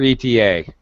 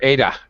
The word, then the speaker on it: ETA: someone okay what's your eta would be very common to speak it to say that we wouldn't pronounce it though we wouldn't say what's your ada we actually have to say the words acronyms we actually pronounce